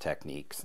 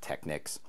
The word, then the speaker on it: Technics: of their components and yes it is pronounced techniques not technics this is a cooling